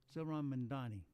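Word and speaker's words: Zohran Mamdani: It's pronounced Manjaro. Not Manjaro or anything else, just Manjaro. Zoran Mamdani. Zoran Mamdani.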